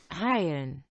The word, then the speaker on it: Heilen: Heilen. Heilen. Band. Oops. Hello. How's it actually pronounced according to this? Hayen. Hayen. Hayen. Hayen. Completely forgets the L.